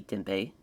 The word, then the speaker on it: Tempe: it's they pronounced it I believe the the uh e is silent but I'm not it might be Tempe Arizona they touch gloves here